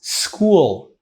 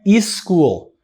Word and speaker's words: school: Ó, s school, não é is school.